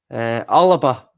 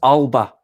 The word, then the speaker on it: Alba: Alaba is the Scottish pronunciation, but it's Alba in English, which means Scotland.